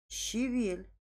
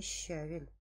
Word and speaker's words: щавель: Скворечник, яичница, алфавит, сантиметр, музей, звонит, а не звонит, понял, щавель, а не щавель, жалюзи, а не жалюзи, жалюзи, баловать, а не баловать, банты, а не банты, ворота, теннис.